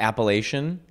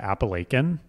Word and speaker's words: Appalachian: The Appalachian Mountains. Where are they? First of all, where I come from, we pronounce it Appalachian.